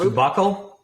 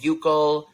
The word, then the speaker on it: buccal: It's pronounced buccal? Yeah. I mean, so in the UK, they call it buccal.